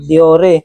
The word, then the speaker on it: Dior: Shimano kung babasahin natin sa tagalog Diore pero sa English Dior talaga yan.